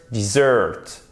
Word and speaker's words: dessert: Et vous avez l'accentuation sur la première syllabe. Desert, dessert. Desert, dessert. Donc, non seulement la prononciation de la voyelle change et c'est la même voyelle, I court, E, mais en plus l'accentuation change. Seconde syllabe, première syllabe.